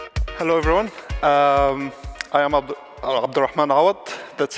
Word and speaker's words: Abdelrahman Awad: hello everyone um I am abdan a that's how to pronounce my name it's a little hard I